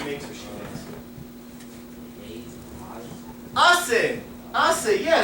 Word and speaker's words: hace: Hace, yeah, the H is silent, so it turns like ace.